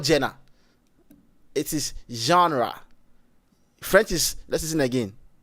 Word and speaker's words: genre: Ghanaian say Jenna but it's not Jenna. It is genre.